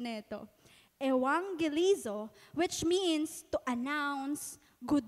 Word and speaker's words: evangelizo: ko pa po talaga yan Sabi ko anong pronunciation nito evangelizo which means to announce good news the verb